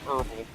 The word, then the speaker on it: herbal: hurtful but and moat in America we say herbal the H is silent so yeah that's what